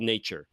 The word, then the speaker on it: nature: that says Brut Nature, which is just spelled nature, but pronounced nature in France.